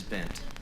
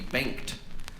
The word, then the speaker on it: Bengt: bam we say ben in sweden you would actually pronounce the g it would be banked uh but here in